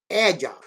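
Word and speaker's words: ẹja: Aí vem a pronúncia já. E-J-A. Édia. Certo? Édia. O A é grave. É um A grave.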